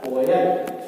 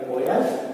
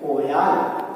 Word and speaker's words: कोयल: और इसको कैसे पढ़ेंगे ओ या ल, कोयल। इसको पढ़ेंगे कोयल, इसको पढ़ेंगे कोयाल। तो कौन सा शब्द सही है कोयल।